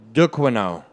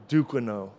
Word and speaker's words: Duquesnoy: And his last fight, though, with Patrick Williams, he showed It's Duquesnoy. Duquesnoy. Yeah. Super hard to pronounce. He's a French guy.